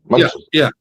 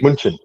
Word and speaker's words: München: Oh, man, so you call it München, right? That's how you say in German, right? München. Yeah, exactly. München. Yeah. Like that.